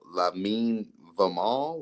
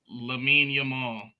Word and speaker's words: Lamine Yamal: So I didn't know what you was talking about when you was giving me the fourth guy, Lamine Vamal or Lamine Vamal. How do you say that? Lamine Yamal.